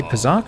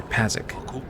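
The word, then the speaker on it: Pazaak: in this game sock you say pizak or pasic i think it's pronounced both ways in kotor too which is kind of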